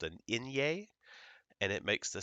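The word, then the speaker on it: eñe: it's our same alphabet plus this letter here this is called an inye and it makes the sound Nia and you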